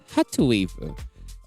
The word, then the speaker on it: hrtz.wav: music video for hrtwav, Heartwaves, or because it is spelled as hertz, HRTZ, like hertz, like the frequency, of course. But in Korean, it is pronounced as hrtwav, so it's Heartwave 19.